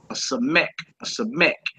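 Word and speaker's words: ס: in Sun and it's called a SE ACH a sech numerical value for that is 60 60 all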